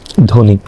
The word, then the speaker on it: ধ্বনি: বাড়তি শ্বাসাঘাত করতে হয় যেমন দেখো ধ্বনি এখানে ধ্বনিতে শব্দের প্রথমে ব ফালা থাকার কারণে কি হলো অর্থাৎ দর সাথে ব বর উচ্চারণ হয়নি কারণ দ তে তো ব্য